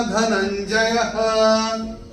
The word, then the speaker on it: धनञ्जयः: दूसरे चरण की समाप्ति पे धनंजय, वो जो विसर्ग दिख रहा है य के बाद चरण की समाप्ति पे आ रहा है, तो उसका उच्चारण केवल और केवल ह ही होगा।